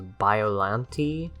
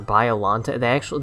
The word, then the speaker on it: Biollante: Biollante, or Biolante. They pronounce it several different ways in the movie because there's an English-speaking American cast and a Japanese cast.